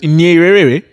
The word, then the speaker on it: Nyerere: I mean, but someone like Julius Nyerere, Jesus, did I destroy his name? I probably destroyed his name. And then, like, how many rays? Nyerere. That's how you say it.